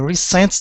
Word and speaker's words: recent: Okay, stress at the beginning.